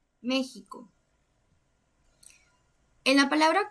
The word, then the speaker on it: México: De igual manera, la fuerza recae en la antepenúltima sílaba, entonces es una palabra esdrújula. Y todas las palabras esdrújulas se acentúan. Entonces vamos a acentuar la vocal E. México.